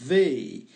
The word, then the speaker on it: they: En anglais, il au pluriel et le pluriel, ça donne they. Donc, they, vous prononcez bien comme ça. They, vous zozotez.